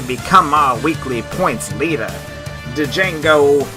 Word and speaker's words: Django: Django, the D is silent even though I just said it, makes the Lollygaggers walk